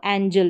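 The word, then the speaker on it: angel: तो यहां पर पढ़ेंगे इसको एंजेल यानी जी को हम ज पढ़ रहे हैं।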